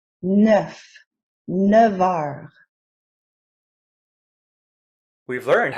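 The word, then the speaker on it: neuf heures: word starts with a vowel sound and its pronunciation gets joined to the neff before it with a v sound neff nevar we've learned how to specify a length of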